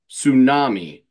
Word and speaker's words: Sŵnami: himself John this is a band whose name is pronounced as tsunami but it is spelled as I believe you